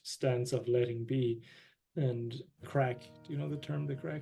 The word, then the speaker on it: craic: And crack, do you know the term, the crack? The crack? Like C-R-A-C-K? No. C-R-A-I-C, we spell it in Ireland.